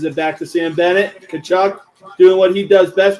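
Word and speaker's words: Tkachuk: Matthew Kachchuck. Not exactly how it's spelled the way you think it is.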